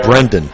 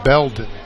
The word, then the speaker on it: Belden: I want to say Brendan. Yeah. Every time. And of course, it's Blendon with an L. It's Belden. Belden, excuse me.